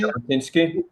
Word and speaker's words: Jabotinsky: Do I pronounce his name correctly? Jabotinsky?